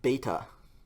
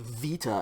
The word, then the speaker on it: beta: going to be called beta beta is pronounced like an english b and it looks pretty much like an english b okay in modern greek this letter is called vita and that's actually pronounced